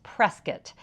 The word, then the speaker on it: Prescott: you know if you live there the correct pronunciation is Prescot and Prescot is in the White Mountains so